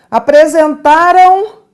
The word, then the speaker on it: apresentaram: é um som nasal é um ditongo nasal vejam aqui apresentaram a queixa apresentaram a queixa preste atenção você não está vendo de tonghua quiné no finalzinho deste verbo apresentaram esta é a última sílaba você não está vendo um ditongo mas um ditongo você não vê um ditongo você escuta então olha